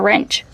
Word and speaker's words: wrench: What about the wrench? Oh yeah, that's a little wrench right there. Remember the word wrench. The W is silent, so it's pronounced with the R sound first.